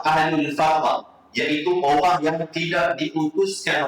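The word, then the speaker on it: أهل الفترة: rasul pada zaman dak sepatutnya ejaannya al-fatrah ha alif lam fa ha tapi dah qah ha tapi nak sebut ejaan yang sebenar dalam kitab-kitab yang betul bukan fidrah ha bukan ahlul fidrah ahlul fahrah iaitu orang yang tidak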